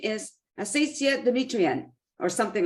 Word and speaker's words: Asiza Demetrian: Now, you might want to correct my pronunciation of your name. It's Asiza Demetrian.